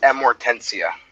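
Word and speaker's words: Amortentia: dude how do you even pronounce that it's pronounced amortencia amortencia yeah sounds like uh sounds like some uh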